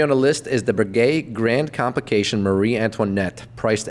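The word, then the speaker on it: Breguet: insane number three on the list is the Brigade Grand complication Marie Antoinette priced at 30 million dollars did I mispronounce that whole thing no that's all all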